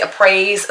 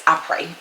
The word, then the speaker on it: après: People say it wrong. Some people say appraise, some people say après, but I watched one of their videos and it's après.